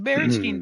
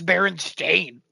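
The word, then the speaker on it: Berenstain: and I remember a teacher being like the barstein Bears and I'm like oh I'm pretty sure it's Baron stain like what what are you doing like [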